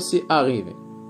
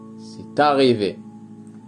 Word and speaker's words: c'est arrivé: c'est arrivé، c'est arrivé، لا نقول سي أريفي، c'est arrivé، لقد حدث، لقد حدث.